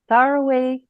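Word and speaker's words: सर्वे: Sarwe prayer. Okay. The Sarwe prayer. The V is like a wah sound.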